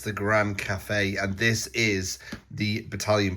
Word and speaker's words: Cathay: It's the Grand Cafe. And this is the battalion box. Is it pronounced cafe? That's how that's what I'm running with.